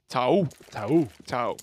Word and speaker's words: Tao: Tao. Tao. Yeah, it's quite hard to not put so much emphasis on the O, the last O.